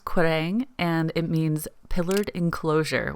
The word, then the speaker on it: Quiraing: So it's pronounced Quiraing, and it means pillared enclosure, which was very fitting.